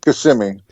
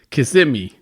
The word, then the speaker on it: Kissimmee: It's Kissimmee. Kissimmee.